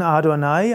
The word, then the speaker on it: Adonai: Er wird abgekürzt mit JHVH, JHWH und ausgesprochen im Hebräischen Adonai.